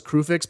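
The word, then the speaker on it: Kruphix: that is clearly Kian I still say cruix I know everyone else says Kix but I don't know why that youu would be pronounced in a with you know that'd be a hard you I don't understand that reads cruix to me I don't I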